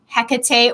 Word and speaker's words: Hecate: my favorites would be Hecate or hatate however you would like to pronounce her name she was both Greek